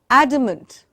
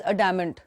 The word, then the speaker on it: adamant: Again, very often mispronounced as adamant. वो बहुत adamant है. Adamant, पहले तो ड और ट नहीं है. Adamant. Adamant. Say it with me, please. Adamant. Adamant. Soft d, softer.